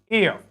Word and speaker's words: heir: अब यहां पर क्या है, इसको पढ़ते क्या है, हेयर थोड़ी ना लिखा है, ये क्या पढ़ते हैं, एयर।